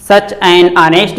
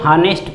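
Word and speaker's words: honest: कुछ बच्चे थोड़ा सा कन्फ्यूजन क्रिएट करते हैं, ऑनेस्ट को हानेस्ट पढ़ते हैं, यानी इसका जो प्रोनाउंसिएशन होता है एच से करते हैं, यानी ह से करते हैं, ह से न करके हमको इसका प्रोनाउंसिएशन अ से करना है, क्योंकि एच इसमें साइलेंट है।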